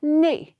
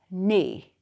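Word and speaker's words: neigh: a horse is called nay spelling n e i g h nay clear everyone all right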